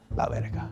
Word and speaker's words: la verga: La verga. La verga. La verga with your dick. But the dick means good. La verga sounds like... No, la verga. Oh, so... It's how you say it, la verga.